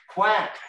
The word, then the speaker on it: CWAC: were the letters cwac does anyone know how you pronounce that word c-w-a-c quack yeah quacks and quacks